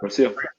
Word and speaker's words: Rocio: genuine, but it creates dialogue from them to Rocio. Like, hey, is that how you pronounce her name? Yep. Okay. It is. Rocio.